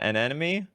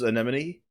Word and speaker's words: anemone: What, is it an enemy? An enemy. Have you seen Finding Nemo? Where he where Nemo mispronounces anemone, and then everyone from then on knows how anemone is pronounced.